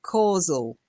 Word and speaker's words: causal: first be ready yeah careful not casual it looks really like casual but if you look closely any idea what how you'd pronounce that CA causal CA caal no Co not causual there's no a at the end causal okay cause and effect